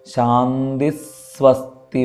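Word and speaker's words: ശാന്തിഃ സ്വസ്തി: അതായത് ഇപ്പോൾ നേരത്തെ ഉദാഹരണമായിട്ട് ഇവിടെ പറഞ്ഞ ശാന്തി സ്വസ്തി, അപ്പോൾ അവിടെ ശാന്തി എന്ന് കഴിഞ്ഞ് സ്വസ്തി എന്നുള്ള സ എന്നുള്ള അക്ഷരത്തിൻ്റെ തൊട്ട് മുമ്പ് വിസർഗം വന്നിട്ടുണ്ട്. അപ്പോൾ ആ സ എന്നുള്ള അക്ഷരം കൂടി ഒന്ന് ഇരട്ടിപ്പിക്കുക. ശാന്തി സ്വസ്തി മതി.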